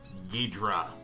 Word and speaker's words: Ghidorah: So, we are going to draw one of Godzilla's most formidable adversaries, the mighty King Ghidorah. Sometimes pronounced Ghidorah. Apparently both ways are acceptable.